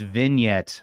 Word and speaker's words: vignette: is it V vignette oh no it is it's vin it's Vin yet oh I'm gonna have